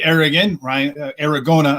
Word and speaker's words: Aragona: I'm still in my prison, but last night we had a really good conversation with David Aragona. I'm sorry, rhymes with Arizona.